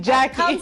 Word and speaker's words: Jaki: Actually, the spelling of my name Jaki, the way I spell it Jaki, was because in TZ they used to call me. And I was like, no, I'm not Jack. You have to change that. Mimi ni Jaki.